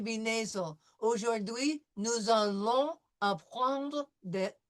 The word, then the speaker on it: apprendre: Apprendre. Apprendre. Apprendre. See, we have right here, we have the French R, so it's going to be apprendre, followed by a nasal combination.